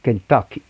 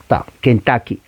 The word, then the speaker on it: Kentucky: Chicken, se escribe Kentucky, la U en inglés no es U, se pronuncia una A pequeña, la A cultural, Kentucky, Kentucky.